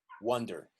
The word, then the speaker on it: wonder: That's with A, and it's a big vowel, wonder. This one is a very small vowel, wonder, wonder, wonder. You don't move your mouth much, wonder.